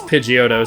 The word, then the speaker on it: Pidgeotto: The announcer did, in fact, pronounce Pidgeotto as Pidgeotto, which isn't technically wrong, but he really rushed through the second syllable there in a way that did not sound correct. But that's also in my brain as someone who's only heard it pronounced as Pidgeotto since I was a, like, baby.